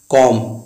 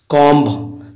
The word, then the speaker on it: comb: तो सबसे पहले हम बात करते हैं एम के बाद अगर बी आए तो बी साइलेंट होता है। जैसे एग्जांपल है कॉम, COMB।